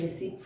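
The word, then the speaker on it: receipt: हमारा इसमें कई लोग इसको रिसीव्ड पढ़ते हैं रिसीव करते हैं। ये प्रोनाउंसिएशन के ऊपर है।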